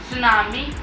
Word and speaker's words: tsunami: आगे टी लगता है पर जब हम इसको बोलना है की प्रोनाउंस करते हैं तब यहां पे टी साइलेंट हो जाता है तो इसलिए हम इसको यहां पे सुनामी कहते हैं जैसे की इंग्लिश में